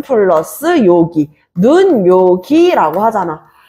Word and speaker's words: 눈요기: 그러니까 눈요기라고 했을 때 니은이 더해지면서 눈요기라고 지금 하나가 더 첨가된 거야.